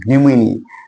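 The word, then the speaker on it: pneumoniae: इसका एग्जांपल होगा diplococcus न्यूमोनी तो डिप्लोको इसका जो डिप्लोकोस न्यूमोनी स्पेलिंग पी से पी साइलेंट होता है यहां स्पेस दे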